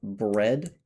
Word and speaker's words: bread: For example, with a you have bread where you don't say the a.